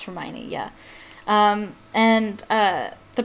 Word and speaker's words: Hermione: the first book uh she pronounced hermione wrong she pronounced it she pronounced it hermione i think but yeah no it is pronounced hermione yeah um and uh